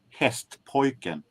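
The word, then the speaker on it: Hästpojken: And for those of you who wants to know, the name is pronounced hest poin means horse boy.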